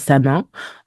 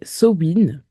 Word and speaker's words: Samhain: Alors, certains disent Samin, mais j'ai découvert que ça se disait Sowin.